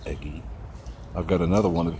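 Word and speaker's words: Ege: Eggy, E-G-E, I guess that's pronounced Eggy.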